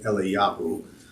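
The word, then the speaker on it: אליהו: then the last one the tanya eli yahoo which elijah means elijah and not the prophet but that's that's how you say it in hebrew the world is to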